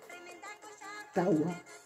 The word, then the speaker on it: tawa: ¿Cómo se pronuncia 4? Tawa.